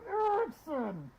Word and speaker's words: Erekson: I said, "No, it's pronounced like this. Edward Elma Erekson."